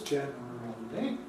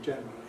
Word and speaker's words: generally: It tells us, first of all, that there can be 4 syllables, generally, but they can be compressed to 3, generally. And I would say they generally are.